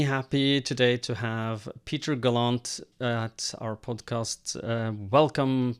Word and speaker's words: Gallant: is galant or gallant or I answer to practically anything but uh Peter Galant is the most common pronunciation.